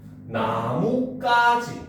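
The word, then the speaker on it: 나뭇가지: 자, 나무와 가지가 합쳐지면 어떻게 된다? 발음이 나무까지 이렇게 됩니다.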